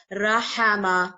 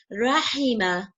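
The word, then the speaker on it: رَحِمَ: under is merciful so it is never rahama no it's never it's wrong pronunciation it is always Rehema how always takes Cara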